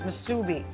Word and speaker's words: musubi: poki to Kansas yep okay this is Spam Musubi how do you say it Musubi Musubi yeah it's misubi what other languages you speak Susan uh English